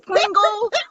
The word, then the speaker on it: Pringle: That's like Paul, R-I-N-G-L-E, because people think I'm saying Kringle and crinkle, and it's Pringle, like the potato chips with no S.